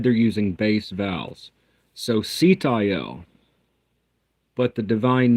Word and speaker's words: Sitael: The angel name is Sitayel, but Abraham Abulafia using base vowels, the divine name is Sayote.